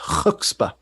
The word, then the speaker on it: chutzpah: said they had the chutzpah to put the sex command in the instruction set. Yep. Yeah, and it's a Yiddish word. It's actually pronounced chutzpah.